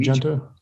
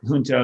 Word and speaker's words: junto: It's called Junto. Yeah. So it's probably like in Spanish, junto means together. And so you could say it junto, you could say it junto, both work.